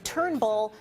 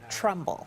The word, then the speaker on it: Turnbull: Earlier this month, Spicer was mocked in Australia for mispronouncing that country's leader's name, calling Prime Minister Malcolm Turnbull Malcolm Trumbull.